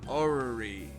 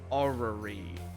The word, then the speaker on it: orrery: It's called an orrery. Hold on. How to pronounce orrery?